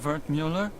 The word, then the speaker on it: Wertmüller: Cut-up version of Wertmüller. It's German, from my father. He said to always insist on the umlauts. Otherwise people butcher the pronunciation.